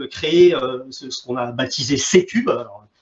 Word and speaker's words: C3: ce qu'on a baptisé C-Cube. Alors, on le prononce C-Cube et on l'écrit C3, pour Centre de compétences